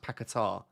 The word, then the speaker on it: Paquetá: His name is pronounced Paquetá.